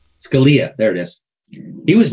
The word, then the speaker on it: Scalia: how do you say his name again yeah dolia Scalia there it is he was murdered sitting in